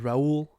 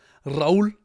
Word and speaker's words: Raul: My name again is Raul. Raul, if you want to roll your R's.